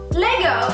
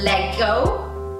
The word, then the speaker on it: Lego: that's right yeah so Lego is actually a Danish word and it comes from leg let me play well right know that so some people might pronounce it as let go but it's not it's the next big